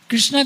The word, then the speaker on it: कृष्ण: और आज की नई पीढ़ी को कहिए कृष्ण बोलो तो कृष्ण नहीं बोलेगी। कृष्णा बोलकर वो सोचती है कि मैं ज्यादा समझदार हूं।